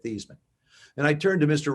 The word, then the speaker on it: Theismann: i'll explain it later just tell me how do you pronounce our last name he said thiesman and i turned to